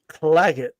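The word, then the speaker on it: Claggett: So Clagget, is that how you pronounce it? Yeah. Clagget.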